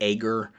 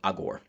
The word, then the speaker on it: Agur: Whereas Agur, and I am not saying Al Gore, a lot of preachers in English will say Agur or Agor or something like that. Hebrew pronunciation would be closer to Agur.